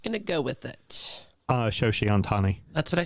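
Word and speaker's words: Shohei Ohtani: I love that you didn't correct my pronunciation because you don't know how it's pronounced either, and we're just going to go with it. Shoshi Ohtani.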